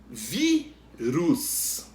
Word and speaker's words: vírus: Vírus. O vi é a sílaba que a gente pronuncia com mais força, é a penúltima.